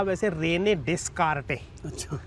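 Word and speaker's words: Descartes: अच्छा क्योंकि ना फ्रांस में एस बीच में बड़ा बहुत चीजों में लगता है। साइलेंट हो जाता है। हां तो बाद में जब फिर ये लैटिन में आती है, इंग्लिश में आती है तो ये एस साइलेंट हो जाता है और फिर धीरे-धीरे एस निकल ही जाता है नामों में खासकर।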